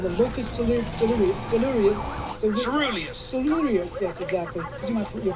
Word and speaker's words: locus coeruleus: It turns out there's a structure in the brainstem called the locus coeruleus. yes, exactly. Your pronunciation is brilliant.